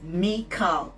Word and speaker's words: Michal: Michal, pronounced as Michal with a very soft K, is the Hebrew female version of Michael.